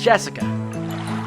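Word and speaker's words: 朱志香: kind of weird name you see that is pronounced jessica she's dad's oldest brother's daughter that older brother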